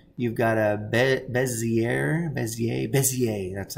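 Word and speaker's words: Bézier: this polygon one you've got a bezier bezier bezier that's how you say it and you've got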